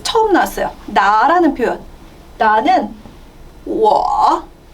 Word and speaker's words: 我: 발음할 때는 원래 우어인데 앞에 성모가 아무것도 없다. 뽀포, 모포 같은 성모가 아무것도 없다 할 때는 W로 바꿔서 U를 W로 바꿔서 적어줘야 돼요. 성모 역할을 대신하게 됩니다. 그래서 WO는 발음이 사실은 UO예요.